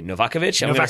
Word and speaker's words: Novakovich: Same thing for Andrea Novakovich, which is actually Novakovich.